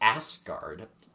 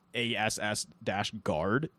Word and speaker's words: Asgard: What do you think of Jeff Goldblum calling it Asgard? See, I don't like it. I like how he pronounced it. Just the way he said it was funny. I think just if you don't read the subtitles where they literally put out ASS-guard, Yeah.